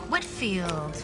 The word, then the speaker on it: Whitfield: Hi, I have a meeting with Olivia next week and just wanted to get the pronunciation of her last name correct. Whitfield? Whitfield.